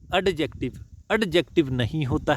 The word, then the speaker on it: adjective: एडजेक्टिव नहीं होता है, ध्यान रखियो। इसमें डी जो है वो साइलेंट रहता है। इस वर्ड में डी साइलेंट रहता है। क्या प्रोनाउंसिएशन होती है? एडजेक्टिव। एडजेक्टिव, ठीक है जी, समझ गए जी।